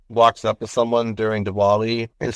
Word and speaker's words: Diwali: when it comes to Dali or or Dali sometimes it might be pronounced with a V and um is that when when someone um walks up to someone during dwali and says happy holidays